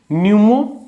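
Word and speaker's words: pneumo: न्यूमो जहां P silent है और एरो।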